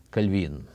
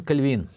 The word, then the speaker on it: Кальвин: частности Женевы Итак Жан кальвин обычно мы говорим кальвин Хотя конечно более правильно говорить кальвин он Француз и поэтому ударение должно быть на последнем слоге но наших культурных сообществах